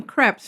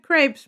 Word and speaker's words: crêpe: And I'm going to call them creps from now on because that's the way they pronounce them. And if I ever said crepes, my sister would always correct me.